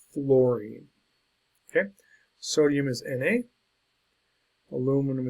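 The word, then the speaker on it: fluorine: wrong quite a bit it's f l u r i n e Florine and not it's not f l o Ur which is flower it's not fline it's Florine okay sodium is na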